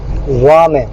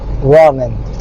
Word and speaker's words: ramen: So Japanese la is little weaker, softer than English L, but stronger or thicker than English R.